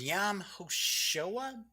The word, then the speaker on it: Yom HaShoah: Today is Yom HaShoah, I believe is the pronunciation.